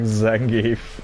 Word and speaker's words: Zangief: You've heard it as Zangief rhymes with grief.